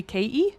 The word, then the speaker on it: Katie: Or Haiti because my name is actually Katie. Yeah. I don't pronounce the T.